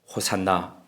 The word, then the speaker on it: 호산나: 호산나 찬송하리로다 주의 이름으로 오시는 왕이여. 호산나라는 말은 헬라어식 발음입니다. 히브리어식 원어대로 하자면 호시안나입니다.